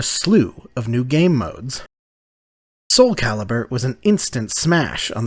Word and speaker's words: Soulcalibur: They called the game SOULCALIBUR, intending it to be a portmanteau of Soul and Excalibur. So, I guess if you're pronouncing it correctly, it's like SOULCALIBUR.